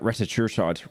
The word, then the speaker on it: retatrutide: There's more recent ones like retatrutide.